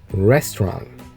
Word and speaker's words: restaurant: Restaurant. You're saying restaurant. Restaurant. You have to say T? Yeah, at the end, the T.